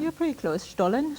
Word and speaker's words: Stollen: And I know I'm not pronouncing that right, so perhaps you'll give me the correct pronunciation. You're pretty close. Stollen? Stollen.